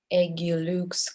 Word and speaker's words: Agilux: And the next one is Mohandeep from the startup Agilux Cloud Insurance. Correct me if I was wrong with the pronunciation. Hi guys, it's Agilux, Agile UX.